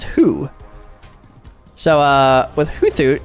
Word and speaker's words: Hoothoot: So, it's Hoothoot. Thoot. Anyway, yeah, it's Hoothoot.